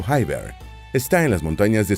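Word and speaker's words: Khyber: la ruta conocida como paso kiber se pronuncia paso hyber está en las montañas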